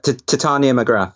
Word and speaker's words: Titania McGrath: alter ego, Titania McGrath, if that's how you pronounce it, McGrath, Titania. Yeah, Titania McGrath.